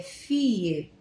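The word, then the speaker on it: fille: Por exemplo, filha ou garota ou menina é fie se escreve com dois Ls. F I L L E. Mas você pronuncia lá, eles pronunciam fie.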